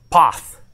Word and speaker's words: Paz: Yeah, so I got corrected on the pronunciation here. POTH. I guess it's with a TH sound.